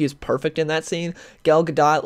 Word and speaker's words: Gal Gadot: if Gal Gadot, or Gal Gadot, however you say it, I'm going to call her Gal Gadot because I think that's how she pronounced it when I heard her like say it before.